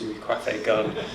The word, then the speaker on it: Louis Coiffé-Gunn: You did pronounce it right, it's Louis Coiffé-Gunn.